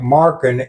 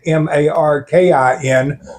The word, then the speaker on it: Markham: by then, I understand he pronounced Markham, so it sounded like Markin, Markin, so they changed the spelling on the surveys.